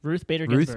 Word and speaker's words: Ruth Bader Ginsburg: Ruth Bader Ginsburg.